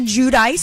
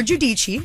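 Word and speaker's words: Giudice: was with my girl Teresa judice or jichi depending on how you like to pronounce it okay and we went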